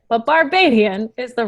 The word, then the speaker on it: Barbadian: Barbarian is a horrible way to say it, but Barbadian is the right way to say it.